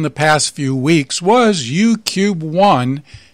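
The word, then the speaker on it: UKube-1: Among one of the satellites we spoke about in the past few weeks was UCUBE-1, which is spelled UKUBE.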